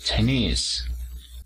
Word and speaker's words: Chinese: en la segunda sílaba entonces decimos chinese levantamos la voz en la segunda sílaba hacemos lo mismo para